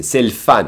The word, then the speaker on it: c'est le fun: And they, just like us, they will skip the E and pronounce an L apostrophe and say c'est le fun, meaning it's fun.